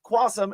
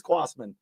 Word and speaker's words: Quassman: I've had him on twice, and I've always called him Quassum, and it's Quassman.